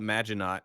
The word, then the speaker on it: Maginot: to say this one Maggie no Maginot I think is how it's pronounced definitely but but yeah you can call it magic not if you want a